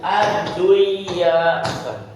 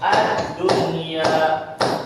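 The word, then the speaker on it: الدنيا: bacanya bukan am gunung Tapi bacanya jelas addunya bukan adduya tapi jelas addunya bunyyanun bunyum marsus gunya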